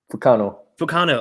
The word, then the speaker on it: Fukano: Fukano, is that right? Fukano. I'm pronouncing I'm putting the accent on the right.